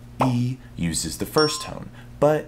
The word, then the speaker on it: 一: Lastly, when followed by any other tone other than the fourth tone, E is pronounced as the fourth tone itself.